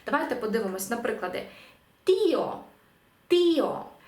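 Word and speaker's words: tío: подивимось наприклади тіо тіо тому що за правилами читання Ми прочитали би тьо тьо злили б але оскільки у нас тут розбивається наш фтонг і нам потрібно поставити наголос на і іспанці поставлять такий наголос тіо тіо дядя дія дія день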